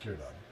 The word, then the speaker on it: Círdan: Just Círdan. Círdan. Círdan. It's just two syllables.